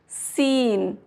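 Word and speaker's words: scene: सी is silent in the combination S सी before ई और आई। एस सी का अगर combination है और उसके बाद ई है या आई है तो सी जो है अक्सर साइलेंट हो जाता है। फॉर एग्जाम्पल सीन, सीन, ये कॉम्बिनेशन है, एस सी के बाद ई आ रहा है तो यहाँ पे सी की साउंड नहीं आएगी।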